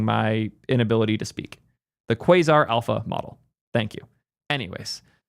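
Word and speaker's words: Quasar: That model is pronounced quazar. You guys are the best. Thank you for correcting my inability to speak. The quaazar alpha model.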